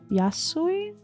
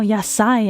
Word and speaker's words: yasai: Yasoi. No. Yasai. I keep saying Yaso.